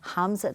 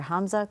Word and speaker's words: Hamza: Uh, as I said, he is an endocrinologist and it's pronounced Hamza. Dr. Hamza Cuadri.